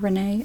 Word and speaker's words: Rennie: Is it Rennie? Rennie F? It's pronounced like Renee?